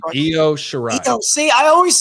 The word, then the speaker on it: Io Shirai: And for the women's championship, it's going to be Toni Storm versus Io Shirai. I think I said her name right. No, you said it wrong. Io Shirai.